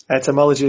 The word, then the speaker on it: etymology: Etymology, is that how you pronounce it? Etymology is right, yeah.